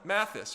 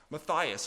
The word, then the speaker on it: Matthys: And following John of Leiden to Monster was John Matthysse or sometimes pronounced Matias.